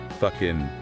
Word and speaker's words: Fucking: Fucking Austria. Yes, you heard that right. You know it's pronounced exactly how you think it is.